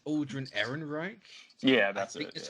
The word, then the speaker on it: Ehrenreich: Also, I think it's Aldrin Ehrenreich. Yeah, that's it. That's how you pronounce his name.